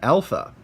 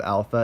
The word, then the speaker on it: alpha: the list you've got alpha alpha is pronounced okay short a like aa like it says there as top now the